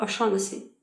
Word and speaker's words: O'Shaughnessy: My guest for the episode is Michael O'Shaughnessy. Do I pronounce it right?